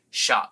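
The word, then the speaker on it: Schott: Someone finally told me that it's pronounced Shot, which does make sense, because I know with a lot of last names that have SCH, it's sh.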